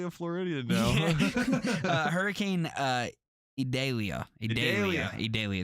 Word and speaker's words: Idalia: Idalia is how you say it.